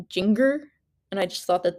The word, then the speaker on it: Jinger: by her name and pronounce it like ginger but like oh sorry finger with a J like think like Jinger and I just thought